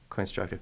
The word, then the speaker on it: Coinstructive: And then also Coinstructive. Is that how it's pronounced? Yeah. Coinstructive.